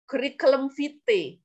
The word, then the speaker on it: curriculum vitae: Kemudian next, we have a daftar riwayat hidup, curriculum vitae. Biasanya kalau orang Indonesia bilangnya CV, nah that's CV, curriculum, bacanya keri ya, kayak digelitikin keri, curriculum vitae. Itu bukan kurikulum, curriculum vitae.